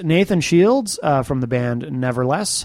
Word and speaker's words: Neverless: I pronounce it Neverless. Okay. Some people will say Neverless and tend to enunciate the second part of the phrase.